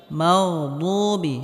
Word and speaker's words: المغضوب: মাগদুবি, মাগদুবি, এখানে গয়নে হালকা আওয়াজটা জারি থাকবে। মাগদুবি, বুবি, এখানে দাল বলা যাবে না, বদ, বদ মোটা হবে।